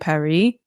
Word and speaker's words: Paris: Paris by the way it should be pronounced Emily and Perry but nobody says that yeah um would you